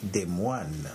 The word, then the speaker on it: Des Moines: Le nom de la capitale de l'État d'Iowa est des moines, comme dans la portion de phrase « la prière des moines ». C'est typiquement écrit en français, mais aux États-Unis, cela se prononce « Des moines ».